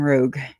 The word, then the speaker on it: Rogue: They call it a Rouge sometimes, and I'm like, because they misspell it. But it's a damn Rogue, and that was given to Colby.